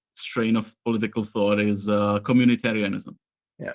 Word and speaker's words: communitarianism: of political thought is communitarianism. Yeah. It's not communism. It's like community-arianism. So and nothing to do with Aryans, whatever. So it's a bad way to pronounce it.